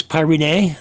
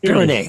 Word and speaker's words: Pyrene: Um, I also want to talk a little bit about uh I'm I'm going to try to pronounce this Pynee. Uh, the volatile you say Pyrene. Okay.